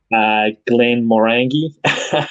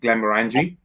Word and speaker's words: Glenmorangie: And I'm going to correct my pronunciation on this one, eh? Like it's Let's see. Go on, try it. Glenmorangie. Yeah. I say Morangi, but everyone does it differently. Glenmorangie.